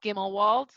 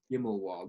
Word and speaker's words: Gimmelwald: and dear to my heart uh that's called gimmelwald and gimmelwald how you spell it it's uh g i m e l